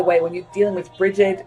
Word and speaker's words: Brigid: And by the way, when you're dealing with Brigid, you're not talking Brigit, which is how we spell it. In America or in England, it's Brigid, Brigid.